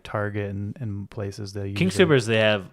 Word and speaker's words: King Soopers: when I'm not eating those meals for lunch, I usually will just go to like King Soopers, which is our local grocery store, and Some people pronounce it scoopers.